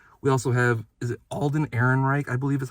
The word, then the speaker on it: Alden Ehrenreich: But we also have, is it Alden Ehrenreich, I believe is how you say his name?